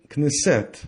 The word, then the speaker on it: Knesset: named shashana lily or kinisette i say knissette because the last world ended with a vowel and in hebrew the